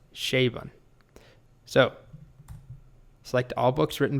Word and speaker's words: Chabon: Well, I just Googled it, and apparently it's pronounced Chabon.